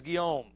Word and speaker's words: Guillaume: All right, French last name, man. I don't know. It's spelled Guillaume, but he says Guillaume. All right, Alfred Guillaume translated Sirat Rasulullah.